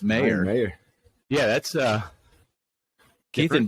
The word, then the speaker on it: Meier: Well, and then the revelation that yours is not pronounced Meyer. Yeah, It's Meyer.